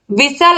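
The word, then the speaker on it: whistle: तो विशल आप बोलोगे तो आप देखोगे यहाँ पर जो यज है वो साइलेंट है, यज साइलेंट है। और फिर यहाँ पर आप देखिए विसल आप बोलोगे तो आपको कहीं पर नहीं पता चलेगा कि टी भी है यहाँ पर। तो विसल में एच और टी क्या है? साइलेंट है।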